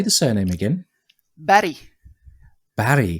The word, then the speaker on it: Berg: Barry. So it's not a hard G like it would be in English.